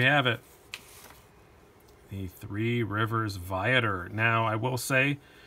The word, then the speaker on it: Viator: excited about that and if i'm reading their pronunciation right the email it is Viator not v8 or anything that spider-man really apologizing